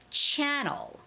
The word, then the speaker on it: channel: in this case it's channel channel you know TV channels there are many channels on TV so channel is the first syllable stress word so it's got to be channel channel all right and T